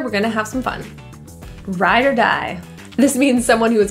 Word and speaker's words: ride or die: ride or die friend the ore in this phrase is pronounced as a quick ER rather than even pronouncing the O at all Ryder Rideshare just refers